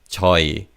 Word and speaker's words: 저희: When you say joy in fast speech, the he in the second syllable is almost silent. So it's Joe is used with the subject marker e.